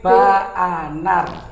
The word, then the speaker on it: BAANAR: Disingkat menjadi Ba'anar. Ba'anar, jadi BAANAR begitu. Ba'anar. Jadi bacanya bukan Banar ya? Bukan Banar, Ba'anar gitu.